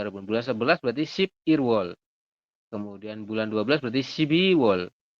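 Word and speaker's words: 일월: Bukan ilwol, tapi irwol.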